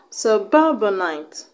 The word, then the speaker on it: suburbanite: Suburbanite. Alright, the stress is on the second syllable. On the ba.